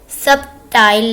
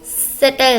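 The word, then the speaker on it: subtle: अल्फाज सबटाइल नहीं होता, सटाइल होता है। बी इसमें साइलेंट है और मानी इसका है लतीफ़।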